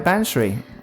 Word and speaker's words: Bansree: the bagnall project in Waterside in chesham hello banshri hi John hello have I pronounced your name right you have yeah yeah